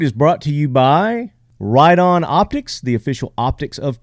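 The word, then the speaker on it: Riton: Ride-On Optics, it's R-I-T-O-N, not pronounced written. It's Ride-On, Ride-On price, Ride-On customer service, Ride-On target.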